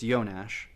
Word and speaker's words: Jonas: look into the Eugene yones that's the J N that's how you pronounce it it's spelled Jonas but it's yonash cuz he's Czechoslovakian guy just trying to be polite look into the Eugene yones fertility calculator this has